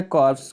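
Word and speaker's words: corps: अगला शब्द आपका है कर्स कर् माने होता है को पी साइलेंट है इसमें प इसमें कोर इसको पढ़ा जाता है पीस तो कोर में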